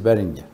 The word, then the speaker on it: Behringer: de la marca beringer si se pronuncia Así es beringer Entonces le llamó la